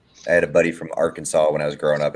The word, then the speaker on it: Arkansas: it's like you said like a lot of people shouldn't it be our kansas i mean really maybe shouldn't it be pronounced that way people like no it's arkansas all right well we're